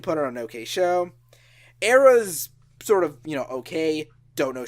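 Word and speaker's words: Erra: apparently, Veil of Maya, Era, or I'm sorry, I have to pronounce it the correct Hispanic way, Era, the Agony Scene, Allegion, not to be confused with Aegeon, Terror Universal, Surreption, and Entheos.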